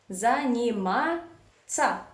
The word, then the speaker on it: заниматься: You do not say тся or тися or something like that. You just say ца. Ца. As easy as that. Заниматься.